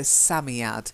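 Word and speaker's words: Psammead: a Sat Samy add I think it's a silent P like Psalm so Sammy add that's one word that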